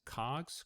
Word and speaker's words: COGS: are referred to as cogs cost of goods sold you'll see that abbreviated as cogs or pronounced as cog the goods could refer